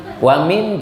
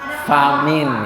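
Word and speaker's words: فمن: Wa min jumlati sifatil mu'minina. Hah? Faman. Kata siapa? Fahman. Ustadz bacanya apa tadi? Wa min. Tulisannya apa? Famin ya. Fa apa wa? Ada titiknya gitu. Coba lihat.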